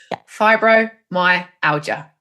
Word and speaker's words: fibromyalgia: how to pronounce it I'd break it up to say fibro my aler or my aler my Alia fibro my Alia yep perfect cool cool